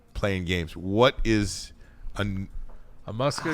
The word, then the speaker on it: musculocutaneous: Musculocutaneous nerve.